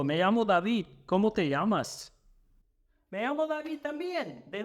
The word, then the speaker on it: llama: And a good first one to know is llama a la policía, or call the police. And no, it's not pronounced llama like the animal, but llama.